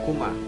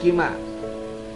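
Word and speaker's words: كُمَا: Ya, dalam keadaan jar sama dibacanya kuma, bukan kima. Ya, dibacanya sama kuma.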